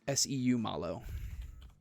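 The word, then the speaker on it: Seumalo: Is it How How do you pronounce that? It's Seu Malo.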